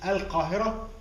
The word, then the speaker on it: al-Qahira: get many of the names either of cities places kings queens and individual Egyptians pronounced in the wrong way because of the difficulty of learning or pronouncing Arabic names so when the early travelers came here to Egypt and they couldn't pronounce al-qahirah tend to be kind